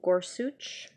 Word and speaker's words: Gorsuch: new Supreme Court nominee kneel or sooch I've heard it pronounced a lot of different ways but that's the way it's oh so that's that's how